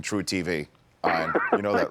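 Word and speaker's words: truTV: You know, the E is silent in True TV.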